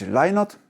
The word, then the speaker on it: Lynott: Nazwisko wymówione Lynott jest tożsame z brzmieniem słów lie not, czyli nie kłamię.